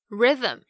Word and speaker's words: rhythm: 或者呢是在写歌写诗的时候常常会要做的这个押韵 Rhyme，还有韵律节奏 Rhythm 也都是同样的概念， RH 开头 H 不发音。不过有一个等等大家在节目中会听到也是比较要注意的是 herb 香草药草 H-E-A-R-B herb。